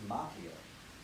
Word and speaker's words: Macchio: Daniel's son, played by Ralph Macchio, which is actually the Italian way pronounced Macchio, but I believe he pronounces it Macchio, and I'll respect his decision.